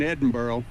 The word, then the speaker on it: Edinburgh: You got to kind of get that little burr off the end of it.